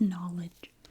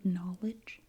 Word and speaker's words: knowledge: You'd have to learn all of these little things, like this is knowledge. So if you had to write the word knowledge, you have an N, because the K is silent, so you would go